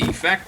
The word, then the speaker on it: effect: to talk about the effect it had on me all right notice i stress the e i could also say sleepers at great effect on effect is a noun 99 of the time